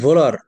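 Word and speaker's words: Wöhler: Friedrich ভোলার, এখানে বানানটা লেখা হয়েছে উহলার, আসলে উহলার না, উচ্চারণটা হচ্ছে ফ্রেডরিক ফ্রেডরিক ভোলার ভোলার ভোলার।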